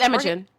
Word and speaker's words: Imogen: Or is it Why do I not Imogen? remember? It's okay. Imogen? It's Imogen. Okay, Imogen, a Uh-huh. separatist child who is in her second year. The two exchange snide remarks and blows before Imogen tries to kill Violet with the dagger, but